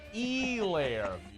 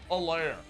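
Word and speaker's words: Helaire: back and muso still can't pronounce it it's e-layer clyde edwards that's what i said yeah no no no you didn't you said like a lair it was the worst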